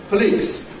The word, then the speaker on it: police: You might not be sure, does this have the vowel as in sleep or the vowel as in slip? Which is it? Spelling doesn't really tell you. First one. Of course, it's the same as in sleep, the first one. Police has the long E, number 1.